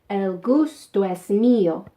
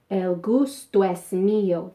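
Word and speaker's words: el gusto es mío: pronunciation tip in spanish if a word ends in a vowel and the next word starts in a vowel they tend to get mushed together which is why it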